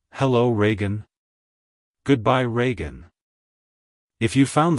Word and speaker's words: Reagan: ragen it's pronounced as Reagan Reagan rean to pronounce it correctly emphasize the first syllable re e and the second syllable gun like hello Reagan goodbye Reagan if you